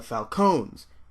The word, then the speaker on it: Falcone: Which, by the way, yes, it's pronounced Falcone. I think the Falcone thing stuck around because Batman Begins, but I mean, everybody in that movie is British, so they pronounce things wrong.